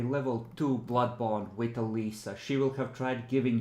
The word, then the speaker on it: Alisa: Gunsman is a uh I in Russian it's Alisa. I think uh Eliza is closer to how Germans pronounce it.